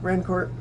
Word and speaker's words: Rancourt: I'm certain that this is a French name. They probably pronounced it Rancourt a couple hundred years ago, but now they just say Rancourt.